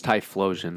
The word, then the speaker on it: Typhlosion: Is it spelled with a PH or with a F? PH. So, yeah, it's Typhlosion then.